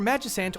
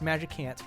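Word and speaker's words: Magicant: looking environment and then for majus ant or magic ant depending on how you want pronounce it a lot of people are very sure that's magic ant so I guess we'll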